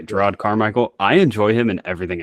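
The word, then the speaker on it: Jerrod Carmichael: side character interactions though I hope I pronounce his first name right but Jared carmichel yeah yeah gerod oh it's gerod okay gerod carmichel I enjoy him in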